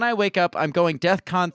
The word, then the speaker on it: DEFCON: saying he was going Defcon 3 on Jewish people what does that mean I don't know first of all it's not death Khan It's Defcon right so the fact that